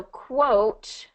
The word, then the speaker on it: quote: So yeah, so quote is going to have that long O sound because we have the silent E at the end, right? Quote.